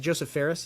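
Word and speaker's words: Josef Fares: little silly thing like having was it Joseph Ferris?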